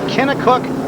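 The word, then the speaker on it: Kennetcook: years of age from kena cook Nova Scotia I'm told by mr. Packham here you don't pronounce the T so you didn't catch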